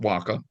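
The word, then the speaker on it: huaca: the way and it and it um um pronounced Waka and uh it can be natural features man-made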